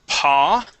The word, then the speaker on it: paw: uh let's go to the word paw and you had said po all right this is pa pa pa okay good yep with that a w okay uh let's go